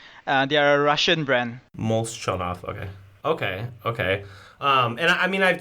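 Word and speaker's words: Molchanovs: I'm really bad with pronunciation. So they are known, well, the name is Moschanov. They are a Russian brand. Molchanov.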